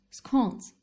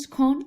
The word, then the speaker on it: scone: Scones. Firstly, the pronunciation issue must be addressed. It is always scone and never scone.